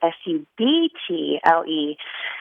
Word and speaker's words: subtle: And it made me think, oh, yeah, subtle has a B in it, which I always thought was a really funny word to have a silent letter because you could say that the B is very subtle in a way.